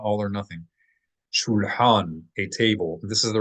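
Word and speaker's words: שולחן: Shulhan, a table. This is the regular word for table in modern Hebrew as well. Shulhan or shulchan in pop pronunciation, shulchan, like Shulchan Aruch.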